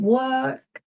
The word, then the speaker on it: work: Work. D. I mean the the vowel sound is the same as the vowel sound in like bird for example.